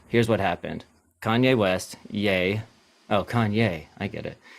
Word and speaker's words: Ye: It's Yay, I And believe he is is yay. pronounced Yay. Right. I don't know. Yeah.